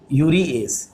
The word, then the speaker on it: यूरिएज: देखो कुछ लोग सा लिखते हैं, सा और जा में अंतर नहीं है, आप अपने हिसाब से उच्चारण कर सकते हो।